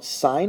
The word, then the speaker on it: sine: did kind of mention briefly that s represents sine sine is spelled s-i-n-e but it's often abbreviated as Sin